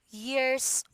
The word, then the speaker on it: years: Long, can you pronounce the S? Can you say years old? Years old. Okay. Now, Long, I can always hear that there is you're having hard time with pronunciation the S, especially in the end part.